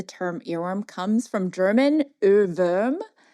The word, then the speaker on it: Ohrwurm: didn't know, the term earworm comes from German Ohrwurm. Wow. Yeah, Ohrwurm. Nice pronunciation, by the way.